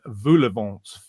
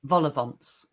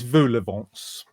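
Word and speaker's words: vol-au-vents: pineapple cocktails sausages and volavant as you say I say it wrong don't I volovonts yeah it's voulevance yeah um Jenny Dr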